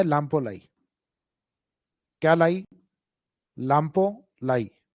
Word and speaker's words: लापोलाई: कुछ जगह मैं को साइलेंट कर देते हैं। लापोलाई भी बोल देते हैं। बाकी सही नाम है लापोलाई।